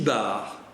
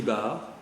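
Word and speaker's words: Bard: Le petit ermitage, l'ermitage, la maisonnette, le petit bar. Alors le petit bar, ça s'écrit B-A-R-D, je précise parce qu'il y a un D.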